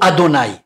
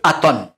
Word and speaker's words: Aton: par les Hébreux séfarades, ce n'est pas d'Aton qu'il s'agit, mais bien d'Adon. Il y a donc une erreur dans la transcription et dans la prononciation du dieu Aton, qui doit se lire et se prononcer Adon.